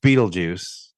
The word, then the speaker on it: Beetlejuice: It's pronounced Beetlejuice, but I think that's how originally that's what they wanted his name to be spelled like.